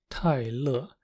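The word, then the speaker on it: 泰勒: It's just that the R is dropped, so Taylor becomes Tai Le. This version arguably sounds closer to the original because they now both have 2 syllables.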